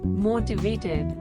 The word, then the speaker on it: motivated: Word motivated. The pronunciation is very easy. 4 syllables, and the emphasis on first syllable. Mo. T. Vat. Ed. Motivated.